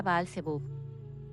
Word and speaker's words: Baal-Zebub: Corrompido Belcebú, en su verdadera pronunciación hebrea Baal-Zebub.